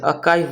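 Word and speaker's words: archive: इसका प्रोनाउंसिएशन भी थोड़ा अलग है। अकाइव बोलते हैं हम।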